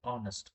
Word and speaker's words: honest: Here we don't pronounce H sound. Hest. We don't pronounce. We say honest.